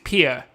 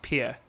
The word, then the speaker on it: Pierre: it's it's just it's pia it's spelt pierre but it's pronounced pia okay um and but